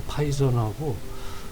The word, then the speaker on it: 파이썬: 그래서 라스베리 경우에는 이제 아마도 파이썬이라는 거 그 발음이 이제 TH에서 이제 혓바닥을 보고 쓰 해야 되는데 우리는 그냥 파이썬 그렇게 쓰더라고요. 이제 우리 한글로 쓸 때. 그래서 그 파이썬하고 그 자바스크립트 그 두